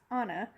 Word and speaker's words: Anna: You'll meet childhood Anna, pronounced Anna, rhymes with Donna, even though everyone gets it wrong and I never correct them.